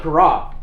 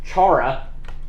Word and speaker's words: Chara: frank danny might not know how to pronounce it but it's camp corral not camp chara camp cara is held